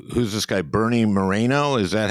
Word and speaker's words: Moreno: for shered brown it's who's this guy Bernie Moreno is that how you pronoun pronounce his last name uh yeah he is